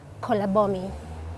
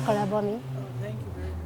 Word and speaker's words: Kolabomi: well um you see every vowel in my language has three ways of pronouncing it so we have the up sound the midi sign and the lower sound so you may note them so i may not pronounce them correctly but i'm trying yes so it's um four syllables you may there are